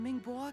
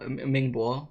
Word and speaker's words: Mingwa: to be getting irritable i'm glad that they pronounced his name mingwa like there so i know how to say it because i was going to say ming bo so you know it's